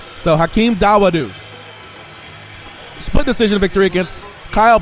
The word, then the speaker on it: Dawodu: Dawodu is in the center of the ring, and we'll see what happens.